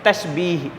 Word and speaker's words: तस्वीर: जो एक नंबर पर तस्बीर इस का सही उच्चारण है तस्वीर तस्वीर क्या किसे कहते